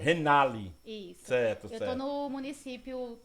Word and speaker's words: Renaly: Boa noite você só que começar corrigindo a pronúncia do meu nome é renale renale isso eu tô no município na gestão desde